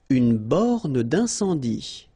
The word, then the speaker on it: borne d'incendie: Une borne d'incendie. Okay, final E here not pronounced, final E here not pronounced. Une borne d'incendie. And then you get the nasal. Un, en. Incendie. Une borne d'incendie.